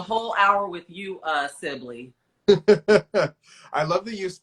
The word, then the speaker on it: Sibilly: I'm taking the whole hour with you uh Sibley I love that you pronounce my name right the first time it's